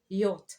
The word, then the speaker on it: yacht: You pronounce a word like yacht, for example. Yacht, du yacht. But now when you're writing, it has more letters there that are not being pronounced.